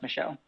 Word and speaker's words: Michel: yeah I thought so I think it's pronounced Michelle Michelle oh my bad sorry